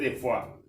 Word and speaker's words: de Foix: Sobrina del rey Luis XII de Francia, Germain de Foix se pronuncia, en francés de Foix.